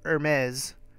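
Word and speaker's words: Hermès: rowana in the house he says what about an Hermes I'm gonna say it right this time emetics atom exploits her maze messenger bag how about it I haven't seen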